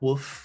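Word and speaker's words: WWOOF: It's spelled like woof, like a dog barking.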